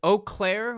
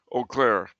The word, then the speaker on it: Eau Claire: okay uh oh I don't know how to pronounce this Eau Claire Wisconsin Eau Claire yeah uh anglo-catholics big big Cathedral we actually